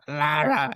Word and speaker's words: Lara: friend though, uh, the Asian chick, she says Laura, though. Well, she probably mispronounced her name, too. Sam. You know, Sam isn't her real name, right? That's just the way it works. She has Lara.